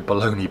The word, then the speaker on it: Bologna: but as I said they are called Bologna soy baloney bottles put to pronounce Bologna so the other one